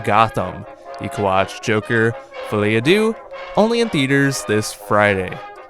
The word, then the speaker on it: Folie à Deux: All right, so Joker, I'm going to pronounce this terribly. It's Joker Folie à Deux, I believe.